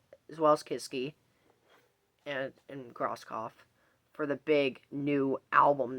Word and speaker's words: Grosskopf: You have Marcus Grosskopf on the bass. Yes, I finally pronounced his last name right.